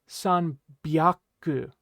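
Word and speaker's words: 百: about hyaku is that hyaku will change its pronunciation based on the number of hundreds that you have, right? So based on the number that comes before it, the pronunciation for hyaku is going to change just a little bit, right?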